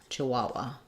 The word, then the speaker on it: Chihuahua: um how to pronounce Chihuahua um so in American English we say Chihuahua um and we stress on the middle syllable Chihuahua um she had a